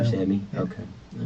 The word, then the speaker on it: Ramsawmy: Ramsawmy, the W sound. Ramsawmy.